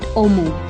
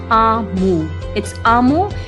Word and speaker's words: Omu: note to the reader how do you pronounce omu it's not omu it's amo and it's a igbo